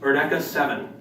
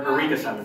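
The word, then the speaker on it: Eureka Seven: From what it's pronounced, Erdeka 7. Or Eureka 7. Well, it's Johnny Young Bosch said it as Erdeka 7. But you say no?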